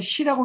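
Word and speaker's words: 使: 어, 원래 이제 사신갈 할 땐 시라고 읽는 게 맞아요, 시. 근데 이제 이게 또 불일 사로도 익히죠. 사로도 익혀서 사행이라고 하는 겁니다.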